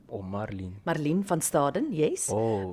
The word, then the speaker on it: Marlene: podcast with the mayor, Marlene Van Staden. Did I pronounce it right? Yes, you actually did. In Afrikaans, we say Marlene. Oh, Marlene.